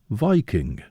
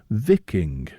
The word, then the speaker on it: Viking: bays and fjords and from its derivation the proper pronunciation of the term is vicking well that's the quotation